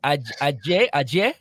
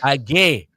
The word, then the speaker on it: Agay: How you pronouncing this? Ajay? It's DJ Agay. Agay.